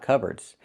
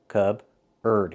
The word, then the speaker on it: cupboard: So, the P is silent. C. Cubard.